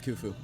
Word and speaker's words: Khufu: Pharaoh Khufu, I believe it's pronounced, I think it's Khufu.